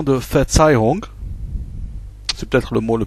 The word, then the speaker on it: Verzeihung: En 3, la prononciation de Verzeihung. C'est peut-être le mot le plus compliqué du texte. Sachant que le V se prononce F et que le Z se prononce Ts, donc ça fait Verzeihung.